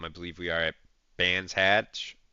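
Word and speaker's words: Brands Hatch: believe we are at band hatch brand hatch brand hatch is how it's pronounced I I'm pretty sure um but um yeah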